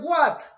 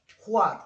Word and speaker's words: what: profesor, yo siempre decía what. Yo tengo años diciendo what. Porque es una tendencia de nosotros que cuando vemos una W la pronunciamos como si fuera una G.